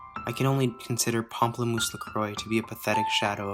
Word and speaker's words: La Croix: unlike the actually french sparkling water brand berries lacroix itself isn't french it's named after saint croix